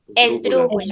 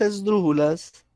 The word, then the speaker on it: esdrújulas: Esdrújulas. Esdrújulas. Esdrújulas. Acá tenemos un ejemplo. Esdrújulas. ¿Dónde tiene el acento esa palabra? En Dru. En dru.